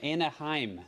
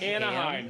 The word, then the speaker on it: Anaheim: Mark Anaheim, California. Anaheim. Not Anaheim. Ham, but lunchtime.